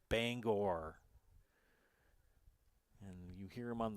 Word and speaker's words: Bangor: The one that drives me bananas is all my friends in Loyal call Bangor Banger, and it's not Banger, it's Bangor.